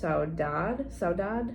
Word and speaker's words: saudade: was a Portuguese word, and I believe it's pronounced saudade, something like that.